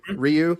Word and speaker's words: Ryu: Am I saying it right? Ryu. Right? Ryu.